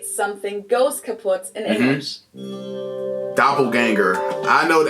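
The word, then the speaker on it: kaputt: We spell it with two T's in Germany, but we pronounce it the same way. Kaput. Kaput.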